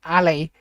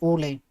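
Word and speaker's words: Aly: It's so it's it's Ali, but people call me Ollie. A L Y. And it honestly infuriates the absolute life of me. It really does. Oolie every time.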